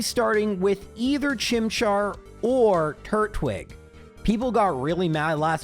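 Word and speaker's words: Turtwig: This means we're going to be starting with either Chimchar or Turwig. People got really mad last video. I underpronounced the second T. So, Turwig.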